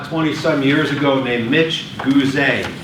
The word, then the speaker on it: Gooze: There was a Vistage speaker I saw 20-some years ago named Mitch Gooze, G-O-O-Z-E. Write it down. Accent on the E.